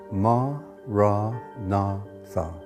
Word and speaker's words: Maranatha: If you choose that word, say it has four syllables. Ma, ra, na, tha.